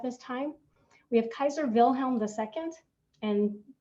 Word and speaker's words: Wilhelm: time we have kaiser wilhelm the second and w's in german are actually pronounced like a v so we'll be talking today a lot about the weimar republic and kaiser wilhelm he inherited the throne